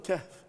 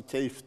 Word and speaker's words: Kehf: Bazısı keyif diyor. Sanki keyif ehli gibi. Söylemesi zor ya ondan öyle daha zor. Telaffuzu zor hocam. Ondan herhalde. İki sessizdir. Yan yana zor. İki. Kef. H ve Kef. F yan yana.